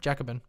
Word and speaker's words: Jacobin: fedex ups u-haul jacobin is it jacobin oh no all right jacobin i didn't realize that that's a mispronunciation on my part thank you um so